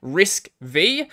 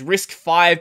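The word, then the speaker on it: RISC-V: is the name is risk v but it's pronounced as risk five because the v is roman numerals for five i don't actually care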